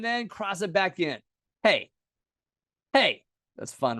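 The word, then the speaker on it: פ: So pay makes a p sound or a f sound as well. Same letter, just two different pronunciations. Pay, pay.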